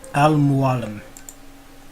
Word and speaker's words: Al-Mualim: Al-Mualim.